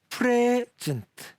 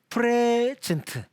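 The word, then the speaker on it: present: 다시 한번 써보겠습니다 예 요거 발음을 앞에 엑센트를 주고 프레해진트 프레젠트 프레젠트 프레젠트라고 발음을 했습니다 그러면 일단 명사 명사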